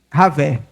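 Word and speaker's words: Yahweh: O nome de Deus no hebraico você se pronuncia Ravé.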